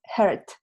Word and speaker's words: heard: And the past is heard. Entonces, si no me pronuncias bien la vocal ahí, me puedo confundir entre presente y pasado.